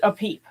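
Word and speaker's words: Epip: month of I guess I would pronounce it Apip. And there's different spellings of it. You'll have E-P-I-P-I or a P-P or a P, but it's connected to Tauret.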